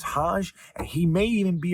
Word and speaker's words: Hoge: Now, it's spelled H-O-G-E, which could make you think it's Hogue. It could make you think it's Hoge. But from what I understand, it's Hodge.